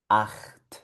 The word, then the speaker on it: acht: Esto suena acht.